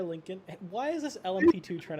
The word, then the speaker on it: Lincoln: yeah you were right Lincoln like the car Lincoln why is this lmp2